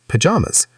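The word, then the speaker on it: pyjamas: It sounds like pajamas, put the stress in the middle.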